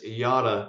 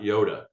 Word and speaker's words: Yotta: out on the road it's y not Yoda uh just a little funny thing here but nonetheless just gives you an idea how to say that so next logical question